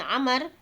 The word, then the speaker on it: Amr: Kemudian yang hadis yang ketiga adalah bahwa hadisnya dari An Abdullah bin Amr. Nah, dalam hadis itu kalau ada wawu dibacanya Amr ya. Kalau tidak ada wawu dibacanya Umar.